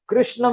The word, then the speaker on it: कृष्ण: ऊ उ ऊ ऋ ऋ ऋषि मेकर अब कृष्ण में हम कृष्ण में यही रू लगता है।